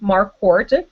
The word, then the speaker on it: Marquardt: on Twitter at Chrissy markart and I'll spell that sorry my my last name is hard to pronounce and actually the D is out of that one haha so it's just